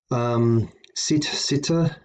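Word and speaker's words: sitte: Sitta. Notice the double T, so sit, pronounced twice.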